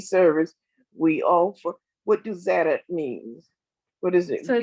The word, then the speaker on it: Tzedek: It's how you pronounce kind of like you don't really need to say the T. You can just say Tzedek. Tzedek. Tzedek.